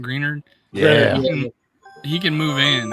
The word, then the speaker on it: Greenard: like about Turner now is like uh green Greener is that he's pronouncing that greenard yeah he can move in and play the